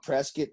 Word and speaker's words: Prescott: __ ] gorgeous uh isn't it funny that it's called press get two but it's spelled prescott yeah i and and